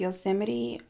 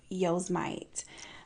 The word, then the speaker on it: Yosemite: Fun fact, I used to pronounce Yosemite Yosemite. And it wasn't until Travis Scott came out with Astro World that I was like, I've been saying it wrong.